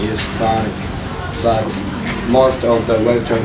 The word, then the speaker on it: Chthonic: The right pronunciation is CHTHONIC, but most of the Western fans pronounce like CHTHONIC, so we don't really care now.